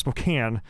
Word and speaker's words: Spokane: Like Spokane, just so you know, it's pronounced Spokane.